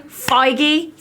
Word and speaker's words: Feige: Feige.